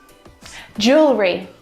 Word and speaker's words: jewelry: We've got an extra vowel here that we don't need to pronounce.